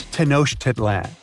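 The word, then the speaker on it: Tenochtitlan: It's Tenosh Teditlan. And Mayan cities are hard to pronounce too.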